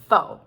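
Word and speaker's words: faux: the foe okay so you can be overly correct and it depends where you are okay so don't overthink these things uh americans say foe not um all right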